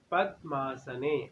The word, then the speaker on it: पद्मासने: हस्ते स्फाटिक मालिकाम विदधतीम, विदधतीम पद्मासने। अब पद मैंने द को क्यों ब्रेक लगा दी, क्योंकि द के नीचे हलंत है तो आधा हो जाएगा।